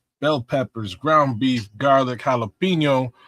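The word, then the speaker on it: jalapeño: Um, guinea beans, onions, bell peppers, ground beef, garlic, jalapeno, or gelapno if you mispronounce it.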